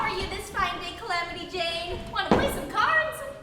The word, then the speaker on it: Calamity Jane: And how are you this fine day, Calamity Jane? Want to play some cards? For the 100th time, it's Calamity Jan. J-A-N with a silent E.